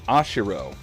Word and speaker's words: Ashiro: Mina thank you uh last name ashiro but because of the way the Japanese pronounce their uh their RS it sounded like he said like the the news reporter was saying Mina ashido which when I heard